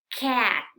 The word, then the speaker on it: cat: Como en la palabra cat, ¿sí? No es cat, es cat.